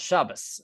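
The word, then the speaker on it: שבת: Shabbath was probably the more historical pronunciation, Shabbath. But nowadays, modern Hebrew takes on German pronunciation, and Germans have trouble saying theology. They say theologie, and so we pronounce it as Shabbat. But in Yiddish, they have a s sound, which is why Shoshani gives you a sav right here. See that? Shabbos.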